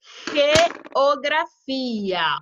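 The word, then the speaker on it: geografía: Los lunes, jueves y viernes tengo clase de geografia. Olha a pronúncia do G.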